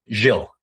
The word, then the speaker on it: Gilles: How do you pronounce your name? Your first name. Jill. Jill. Jill. Yeah, it's French.